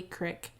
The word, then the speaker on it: creek: norfolk southern railway which passes over pope lee creek creek creek as my pat ball would say the crick y'all been playing in that creek lately haven't